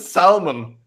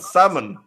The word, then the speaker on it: salmon: Also, why the fuck is there an L in it? You don't pronounce it salmon. You pronounce it salmon.